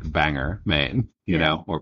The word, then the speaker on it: Bangor: it itself is like 4 hours from like Banger main you know or Bangor or however you're supposed to pronounce that it's actually pronounced Bangor bang Bangor bang Bangor well I'm looking at a I